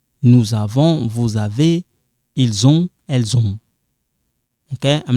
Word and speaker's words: ils ont: So it sounds like zon.